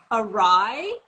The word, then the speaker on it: awry: Like, I think I went to say the word awry, you know, like AWRY, and it was spelled like array.